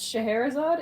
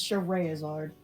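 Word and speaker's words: Scherazard: sense by the way it looks like it should be pronounced scheherazade it's not it's cheray izard shtaraya's art oh yeah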